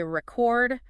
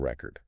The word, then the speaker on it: record: OK, if I say record stress on the first syllable record, what comes to mind?Like a vinyl record. Yeah. Or maybe like setting a world record. A noun. Exactly a noun. But if I shift the stress record. Stress on the second syllable. Record. That's the verb like to record this conversation. Precisely. Same spelling, RECEORD. But the stress tells you if it's the thing or the action. Record versus record.